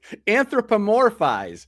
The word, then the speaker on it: anthropomorphize: I had a heck of a time trying to pronounce it. Anthropomorphize.